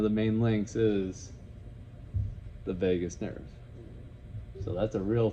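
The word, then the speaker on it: vagus: 10 the Vegas nerve yes I'm talking about Viva Las Vegas right here ever been to Vegas no me neither but it is pronounced Vegas and I use that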